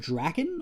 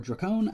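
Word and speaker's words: Drakkon: comic this is uh lord drakken or dracone i've heard it pronounced both ways i believe it's draken uh who is an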